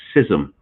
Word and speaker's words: schism: sex and gender identity yes it is schism and not schism i know i've been accused of mispronouncing words or pronouncing them not in the north american fashion but look it up s-c-h-i-s-m is properly pronounced scissom um i get a